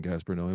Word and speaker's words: Gaspar Noé: I will always hate saying Gaspar Noé, but that's the proper pronunciation.